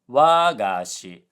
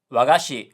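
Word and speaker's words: 和菓子: So, this word is supposed to be wagashi, low high low, which is a traditional Japanese sweet. But Duolingo said wagashi, high low low, which sounds like an archaic way of saying my teacher.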